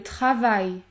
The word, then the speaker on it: travail: combinaison suivante a i l ouai vous allez prononcer le son i comme dans le mot le travail le travail le caillou le caillou ou encore